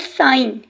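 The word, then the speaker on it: sign: That is called साइन. Here ग sound is साइलेंट. हमने साइन में देखिए ग साउंड प्रोड्यूस नहीं की.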